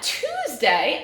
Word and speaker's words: Tuesday: it says a but the beginning part what does it say two's what does ue study here it says ooh does UAE normally say ooh it does not and the last one